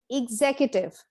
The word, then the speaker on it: executive: on the second syllable next word is executive executive this is not executive but executive now this is another